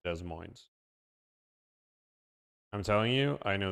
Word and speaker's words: Des Moines: Guys, it's Des Moines. I'm telling you, I know this better than you guys. It's Des Moines.